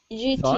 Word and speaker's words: thought: How do you spell it? Thought.